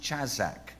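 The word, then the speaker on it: חזק: pronounced chazak in fact if you're Jewish they make this little sound like this or whatever they make this little sound in their throat when they say it I'm not Jewish so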